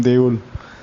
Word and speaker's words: দেউল: Even though actually the word, the way it is spelled, it should be deula, but in Bengali we don't pronounce it, the last o, many times it is silent, so it will be pronounced as deul.